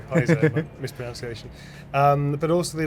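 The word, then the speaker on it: Paizo: Peso uh Peso Peso I always pronounce Piso I'm so sorry Paiso misprononunciation um but also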